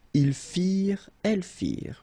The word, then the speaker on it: firent: Ils firent, elles firent. Remember, ending ENT for the plural, you don't pronounce it.